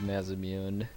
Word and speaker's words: Masamune: Sephiroth's blade is the Masamune. Masamune, depending on your pronunciation of choice. I think Masamune is a better Japanese pronunciation, but I'm just used to Masamune from what I called it as a kid.